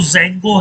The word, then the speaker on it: Django: की बात करें तो जंगो है ठीक है इसमें डी दोस्तों साइलेंट होता है और डी हमेशा स्मॉल